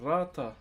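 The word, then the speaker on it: rata: So, this is called Ratta. R A T A is how you spell it.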